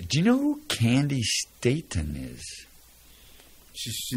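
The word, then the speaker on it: Staton: you know who candy ston is she she's not related to me that's not what it says here it is it Stanton or ston it's ston s a t o n that's the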